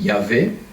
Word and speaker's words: Yahvé: révèle comme YHWH alors pour le prononcer dans la Bible de Jérusalem on dit yavit mais c'est un nom